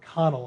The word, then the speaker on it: Connell: These images were created as Connell, or Connell, I guess is correct pronunciation, Kelly Connell.